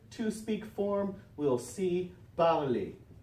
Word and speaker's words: parle: parle, and finally elle, parle. Now notice the pronunciation, lots of silent letters there at the end, right? So, parle, parle, parle, parle, parle, parle, parle.